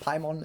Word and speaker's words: Paimon: of- Paimon is the only right way to say it, and if you don't say Paimon, then you're probably wrong.